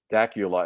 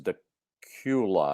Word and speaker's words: Dacula: already gone by but he said it's not Dacula is dequla I believe yeah okay the